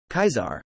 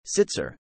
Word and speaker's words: Caesar: Legion pronounce Caesar's name kaizar a classical Latin pronunciation emphasizing the diphthong legionaries who knew him early in the legion's history as well as most other wastelanders pronounce it as the anglicized sitzer barring his occasional use